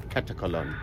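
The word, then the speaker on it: Katakolon: bridge on a very warm welcome to catalog catacolon which is the correct pronunciation according to the local Pilots so we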